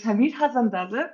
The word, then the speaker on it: Hamid Hassanzadeh: talk to our guest, who is Hamid Hassanzadeh. I hope I pronounced that right. I'm sorry if I mispronounced that, but That's correct.